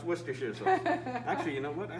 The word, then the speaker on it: Worcestershire: one more time worcestershire sauce but it says worse chester shire oh i'm sorry i pronounce it wrong worship no it's pronounced worcestershire actually you know what i think i'm gonna